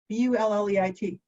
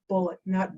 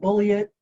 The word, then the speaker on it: Bulleit: Now, here's the deal with Bulleit, B-U-L-L-E-I-T. Somebody once asked Mr. Bulleit 100 years ago or so, how do you pronounce that? And he said, like the ammunition, son. Bulleit, not bully it.